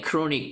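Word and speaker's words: chronic: 그런데 크로닉 크로닉 발음 이거 취론 이끌러면 안 돼. 크로닉이야.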